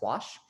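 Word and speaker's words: Łoś: the washvat test and yes that is pronounced wash uh and this says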